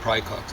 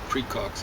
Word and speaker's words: praecox: It used to be called schizophrenia, that is, it used to be called dementia praecox, or people probably mispronounce it, precocious. I think that would be from Latin. And so you'd say it praecox, but most people would say precox or something like that.